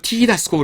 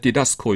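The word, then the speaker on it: διδάσκω: 하지만 그 와 는 반대로 , 읽을 때 는 , "ti-das-ko" 라고 발음 할 필요 가 없습니다 . 강세가 뒤쪽 에 있기 때문 에 , 우리 는 "didasko" 라고 읽으세요 .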